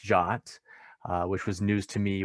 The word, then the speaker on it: JWT: of the conversation so json web tokens they're pronounced jot which was news to